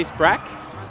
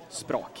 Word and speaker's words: Språk: On the way you pronounce it, you know it's Swedish. Yeah. You definitely... Someone else would maybe say Sprak.